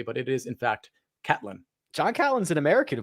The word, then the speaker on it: Catlin: for uh to john catlin for pronouncing his name wrong i was saying caitlyn because that's how it looks phonetically but it is in fact catelyn john callan's an american who plays on the